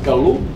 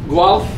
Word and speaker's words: Guelph: Fatila, E stands for Elisabeth, and she graduated from University of, how you pronounce, Galu? Guelph. University of Guelph, undergraduate in chemistry, got